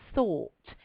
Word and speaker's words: thought: or thinked you say thought t h o u g HT make sure you pronounce that th with your tongue coming through your teeth very good think thought